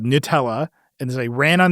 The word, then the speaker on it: Gnutella: They were hijacking an open source protocol called Nutella, which was spelled with a G and U, is like because that's the name of the license. Yeah. And so it's called Nutella.